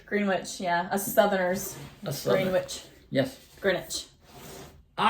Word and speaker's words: Greenwich: Wonder why the W is silent. I don't know. It gets me every time. I know. I have to think about it Yeah. before I say Because it's about Greenwich.